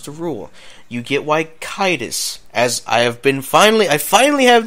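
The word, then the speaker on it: Caedus: You get why Kaitis, as I finally have the official way of saying Jason Solo's Sith name. It's Darth Kaitis.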